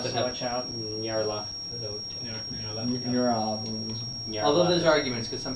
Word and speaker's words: Nyarlathotep: How do you pronounce Nope. that again? One of them has Nyarlathotep. self, so watch out. Nyarlathotep.